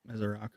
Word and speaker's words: Ezeiruaku: Oh, I got a whole thing here for pronunciation. We knew Michael Williams, Donovan Ezeiruaku. Okay. Ezeiruaku.